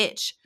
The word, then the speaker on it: ITCZ: The doldrums, or the Intertropical Convergence Zone, ITCZ, pronounced and sometimes referred to as the Itch, is an area where the prevailing trade winds